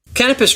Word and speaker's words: Canopus: I just don't want to mess up the pronunciation. Here you go. Canopus drums are handmade drums. Canopus drums. Okay, so here's another one. Hi, I'm Harvey Mason, and I'm with Canopus Drums.